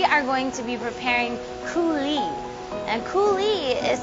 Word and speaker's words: coulis: stock or sauce in a refreshing recipe called coulis.